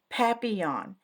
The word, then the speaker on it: papillon: You say it like this, papillon. It's French.